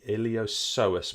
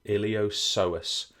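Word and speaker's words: iliopsoas: refer to as the iliosus muscles. The iliosus muscles. And you might already be thinking, James, what is that P doing in there?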